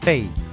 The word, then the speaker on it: 背: Ahora, espalda se pronuncia bèi... ¿Hay algún carácter que se pronuncie parecido? ¡Norte 北! Norte se pronuncia běi… Vale, pues ponemos que es una parte del cuerpo que se pronuncia como norte.